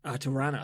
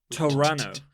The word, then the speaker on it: Toronto: I lived in Canada when we arrived in Toronto toran as the locals it's got a tea you must pronounce it Tom runner yeah Toronto Toronto Toronto